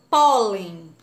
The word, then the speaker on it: pólen: aí com a tia pólen pólen a sílaba mais forte é o pó pólen é a penúltima a última ou antepenúltima